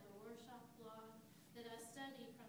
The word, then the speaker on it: Rorschach: I always think I mispronounce that, but that's Rorschach block.